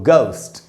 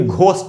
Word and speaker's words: ghost: तो इसको पढ़ेंगे दोस्तों, गोस्ट, गोस्ट, ये भी घोस्ट नहीं होगा। तो यहाँ भी G के बाद H है तो उसका उच्चारण नहीं हुआ, साइलेंट है।